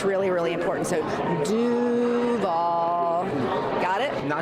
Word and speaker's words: Duval: And so you got to make sure you have a draw out that do and then nail the v at the end and you'll fit right in.